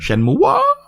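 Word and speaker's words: Shenmue: time events before shenmu Shen mua Shen mua is it mhm Shen mua that's the correct pronunciation okay I don't even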